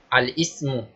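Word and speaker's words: الاسم: Coming down to Arabic language, you just have 3 classification of words, and the first one being al-ismu. The first one is called al-ismu. Say it after me.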